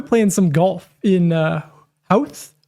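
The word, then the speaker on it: Howth: The locals kind of pronounced it a different way than H. Ho ho h. There we go. Oh, I was saying house. It looks like house.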